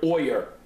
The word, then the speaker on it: Boyer: has to do with the word Boyer it rhymes with boiler okay that's the problem